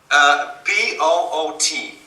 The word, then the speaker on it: Poot: So how do you spell that? P-O-O-T.